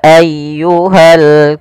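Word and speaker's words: أيها: kemudian pfal ayyuhal Kafirun ditekan ynya Qul Ya ayyuha Jang ayyuha ya tapi langsung saja Qul Ya ayyuhal Kafirun Kemudian pada lafal alkafirun di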